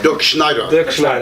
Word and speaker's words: Dirkschneider: details 2 is it pronounced der Schneider or Dirk schneer I'm sorry Dirk Schneider thank you sorry I'm American